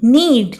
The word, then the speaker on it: know: Silent character वो character होते हैं जो स्पेलिंग में तो होते हैं लेकिन उनको प्रोनाउंस नहीं किया जाता, ठीक है। तो इसका बोलेंगे हम नीड, KNEAD, नीड।